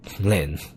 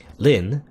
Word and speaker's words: Lynne: She's called Lynne, the same way. Or, I don't know, I assume this E is silent.